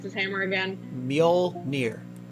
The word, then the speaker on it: Mjolnir: If I somehow knew Thor, I would laugh so hard if, wait, so, how do I pronounce his hammer again? Mjolnir. Mjolnir.